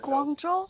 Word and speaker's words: Guangzhou: I don't really necessarily know the pronunciation, but Guangzhou? Is that Guangzhou?